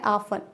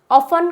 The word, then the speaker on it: often: Next आता है ऑफन। ऑफन का स्पेलिंग जो होता है that is OFTEN। What, OFTEN, ऑफन।